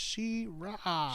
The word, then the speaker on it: She-Ra: And this is another time where they pronounce her name correctly, but it's just She-Ra.